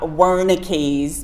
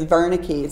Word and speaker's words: Wernicke: my German students said it's not Wernicke's Melanie it's Verna keys and then I asked